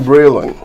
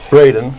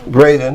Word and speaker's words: Bredin: want to introduce my very good friend Breeland Braden Braden I always mispronounce his name okay okay it's often been